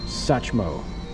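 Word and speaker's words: Satchmo: It's pronounced Sachmo. The T is silent.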